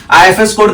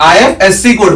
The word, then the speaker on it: IFSC code: इसका प्रोनाउंसिएशन हो जाएगा आई एफएस कोड। बट हम लोग क्या बोलते हैं? आईएफएससी कोड बोलते हैं। क्योंकि अगर हम लोग आईएफएससी कोड बोलेंगे तो मतलब दो बार हम लोगों ने कोड बोल दिया।